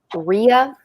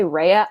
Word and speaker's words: Rhea: but i will the the nickname they gave her was rhea which is right like i was like you know what floraly good for you pronounce it that way because if you say reya i'm gonna lose my